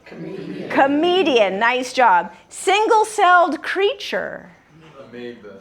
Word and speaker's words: amoeba: Amoeba. Amoeba. What's the silent letter in amoeba?